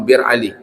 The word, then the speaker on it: Bir Ali: Zil Hulaifah atau sekarang yang lebih makruf dengan Bir Ali. Tulisannya Abyar Ali. Kalau kita lihat nanti di sana Abyar Ali tapi bacanya orang Bir Ali.